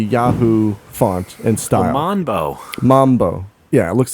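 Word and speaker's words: マンボー: net cafe downtown called Mambo uh but it's it's not not uh based on the dance it's based on the fish same pronunciation it's a kind of fish called Mambo uh they spell it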